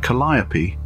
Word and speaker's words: Calliope: the vehicle was christened Calliope rhyming with me after the iconic steam organs of the late 1800s yet dad just to be awkward said her name in the same way the Greek Muse is pronounced proud folks stare after